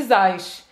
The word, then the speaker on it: Zaz: e o M, você tem que terminar a pronúncia, senão vai ficar Zaz, né? Vai, então, pode ir. Zaza.